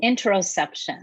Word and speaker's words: interoception: Well, I knew we were going to talk about, and I already forgot how to pronounce it, that internal sensory system. Yes. How do you say that word again? Interoception.